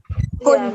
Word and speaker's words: Hund: Itu bacanya Hund kan, Bu? Hund.